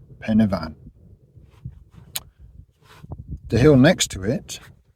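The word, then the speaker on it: Pen y Fan: call it it's not the Y on its own is a sound so it's Pena and then f is a v so pen van Pena van the hill next to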